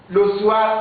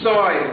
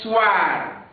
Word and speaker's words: soir: Il y a beaucoup d'élèves qui disent souvent ici, soir. Non, ça c'est une fausse prononciation. Ça n'existe jamais en français. Ici, la vraie prononciation c'est soir. Soir. O-I-A, la prononciation wa.